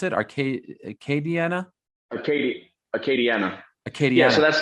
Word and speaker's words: Acadiana: How do you pronounce it? Acadiana? Acadiana.